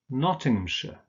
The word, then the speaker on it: Nottinghamshire: names, in combination with the names of towns, for instance, this is pronounced sh. So we have Oxfordshire, Nottinghamshire. Remember that ham is just pronounced so Nottinghamshire.